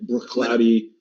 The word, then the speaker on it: Bruichladdich: The CH in Gaelic is a ch sound, like Bruichladdich or Glenfiddich.